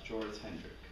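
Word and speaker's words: Joris Hendrik: r i k okay so it's exactly how it's spelled it's how it sounds yeah okay so it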